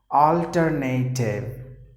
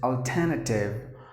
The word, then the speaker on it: alternative: People would always say it as alternative. But the perfect way to pronounce the word is alternative.